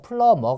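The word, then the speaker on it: plumber: 바로 배관공 이잖아요 그죠 그래서 비는 묵음 입니다 소리가 안나요 그래서 플러머 가 됩니다 뭔가를 막 풀르고 있어요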